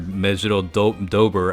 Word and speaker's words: Mejiro Dober: The bingo rewards here, again, you can get the Mejiro Dober unit, or Mejiro Dober, I guess is the phonetically correct way to say it.